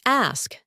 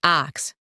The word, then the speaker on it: ask: She laughed and said, "It's ask, not ax.